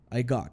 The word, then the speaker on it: got: Cash perceba também que nesse got eu não forço o t eu não quase não falo ele fica meio que então a pronúncia fica I got Cash got Cash então aqui na segunda